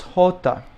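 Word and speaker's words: jota: you have the J the name is hota okay I put a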